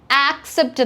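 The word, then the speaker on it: accept: പറയാ ഞാൻ പറഞ്ഞു തരാം ഫസ്റ്റ് വൺ എ സിസിഇ പിടി എന്ന് നമ്മൾ പറയുന്നത് ആക്സെപ്റ്റ് എന്നാണ് എന്റെ കൂടെ ഒന്ന് പറഞ്ഞു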